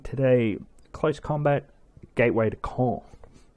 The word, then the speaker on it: Caen: I'm DJ Repents and I'm going to be playing today Close Combat Gateway to Caen. Or Caen. I think it's pronounced Caen if you're French.